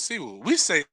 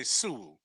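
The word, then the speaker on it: Si Woo: Siwoo Kim is Siwoo. I say Suwoo. Oh God, no.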